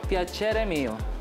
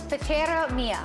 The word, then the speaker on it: Piacere Mio: Tell me how to pronounce the restaurant again. Piacere Mio. Piacere Mio.